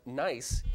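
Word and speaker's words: gneiss: is the next category a variety of metamorphic rock pronounced nice is spelled Steven G and E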